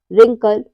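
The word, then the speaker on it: wrinkle: यदि डब्लू के बाद आर आए तो डब्लू साइलेंट रहता है जैसे है रंग right rap rapper रिंकल wrist इन सब में क्या आ रहा है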